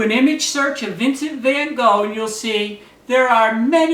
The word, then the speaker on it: Van Gogh: an artist named Vincent Van Go now there are different ways to pronounce it but since I'm in America and I speak English I'm going to use the Standard English pronunciation van go and uh